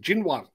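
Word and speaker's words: Xinyuan: As far as I'm aware, the Jinwan brand is not actually, it's X-I-N-Y-U-A-N, and the guy at my local Chinese restaurant assures me it's pronounced Jinwan.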